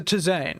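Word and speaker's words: tisane: really didn't figure out how to say that to zayn zane that's it i always keep forgetting how to pronounce it but yes it is a to zane rather than a tea but licorice less is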